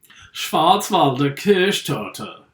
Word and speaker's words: Schwarzwälder Kirschtorte: What is the fruity ingredient of a Schwarzwälder Kirschtorte? You didn't say it right. Schwarzwälder Kirschtorte. Schwarzwälder Kirschtorte. Yeah, that's better.